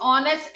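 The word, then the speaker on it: honest: ऑनेस्ट, ऑनेस्ट एस से शुरू नहीं हो रहा प्रोनाउंसिएशन, प्रोनाउंसिएशन शुरू हो रहा है ओ से, इसलिए हम उसके आगे ANN लिख रहे हैं।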